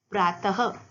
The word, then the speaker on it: प्रातः: इसका उच्चारण आधे ह की तरह होता है। देखिए कैसे? जैसे मैंने बोला प्रातः। प्रातः मतलब सुबह। सुबह के समय को बोलते हैं प्रातः।